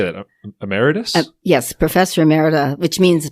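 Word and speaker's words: emeritus: you're a professor how do you say that ameritus yes Professor amera which means basically I'm retired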